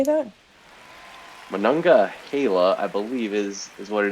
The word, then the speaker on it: Monongahela: Monongahela, I believe, is what it is, after the Monongahela River, which is one of the rivers in Pittsburgh there.